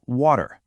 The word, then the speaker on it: water: An American will typically say water, smoothing out that T into a D sound.